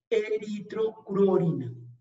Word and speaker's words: eritrocruorina: La hemocianina, hemoglobina, y esta que es difícil de pronunciar, eritrocruorina.